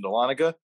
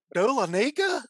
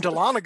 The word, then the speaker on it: Dahlonega: Dahlonega? No. And Dahlonega is actually a mispronunciation, but there you go. That's the white man pronunciation.